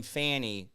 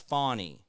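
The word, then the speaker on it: Fani: She said that men say my name Fanny, it's Fawnie. My name is Fawnie, not Fanny.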